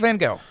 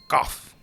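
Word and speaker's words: van Gogh: here the answer is Vincent vano or goof I think the Dutch say it like that Vince Van it's probably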